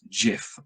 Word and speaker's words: GIF: the height of all living humanities zenith the gifts that keep giving now apparently it's supposed to be pronounced jiff but everybody that i know pronounces it gif